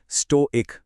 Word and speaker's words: Stoic: और हां इसका सही उच्चारण है स्टो एक।